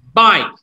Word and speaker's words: bike: In here, the E, huruf E-nya, you didn't pronounce it. Tidak diucapkan. Okay? Example. E. Bike. E-nya enggak disebutkan, kan? Mice.